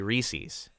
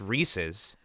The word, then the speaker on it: Reese's: just as wrong as people who say Reese's because it's the iPhone 10 its Reese's its Reese's Pieces it rhymes well exposition is a key